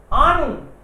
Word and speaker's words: Ahnung: नहीं रीड करते time, H बीच में होता है तो साइलेंट होता है।